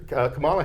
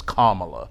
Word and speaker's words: Kamala: Madam vice president name her name is Kamala not Kam not Kamala but Kamala right uh that's that's there